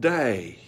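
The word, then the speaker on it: δεῖ: I can pronounce it it's a spelled Dei but you pronounce it day now that that there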